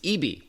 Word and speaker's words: ibi: He's Director of Product Marketing at Western Digital's Consumer Brands, and that includes EB by SanDisk. Again, it's spelled IBI.